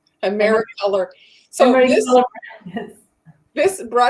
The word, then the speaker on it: Americolor: This is America brand. Emery brand. Am I saying it right? Americolor.